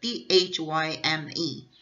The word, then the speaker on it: thyme: O som é time, mas eu escrevo, o spelling, a ortografia, é diferente, né? De quando eu escrevo tempo. Veja, T-H-Y-M-E. E quando eu escrevo tempo, T-I-M-E. Só a pronúncia aqui é igual, time.